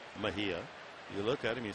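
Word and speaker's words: Mejía: spells his name j n r r y pronounce n Mahia you look at him you see he looks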